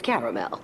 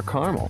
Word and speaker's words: caramel: it's caramel it's caramel a lot of people call it caramel yes if you keep a sofa on your porch like your fiance we might as well serve kamakazi shots everyone knows the best part of a Milky Way they just don't know how to say it after all it's our caramel it's caramel H that makes a